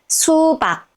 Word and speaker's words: 수박: ㄱ that makes 박(bak) and put the two syllables together 수박(su bak) 수박(su bak) it means watermelon now let's look